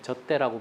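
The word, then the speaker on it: 젓대: 북의 발음으로는 예, 젖대라고 부르는 대금입니다.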